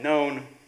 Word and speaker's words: known: So the pun is between none and known. It works better if the K is not pronounced.